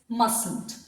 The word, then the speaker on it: mustn't: is pronounced as must here we are not supposed to pronounce this T this T is silent it's mustn't I will also suggest